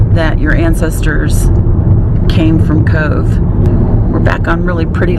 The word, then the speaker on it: Cobh: are really difficult anyway we're just about to Cove it's spelled Co be a 20 miles turn left on l-29 89 but it's pronounced Cove and we're going to a museum called the Titanic experience Cove was the last port of emigration for those